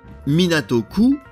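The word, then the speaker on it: 港区: qui suit la Préfecture se lit minatoku Akasaka et désigne la ville dénommée Akasaka dans le quartier de Minato et cette ville est ensuite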